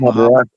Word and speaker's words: Mahabharata: Mahabharata. Mahabharata. So we I can't have pronounce it like they pronounce it because I don't talk with the Indian.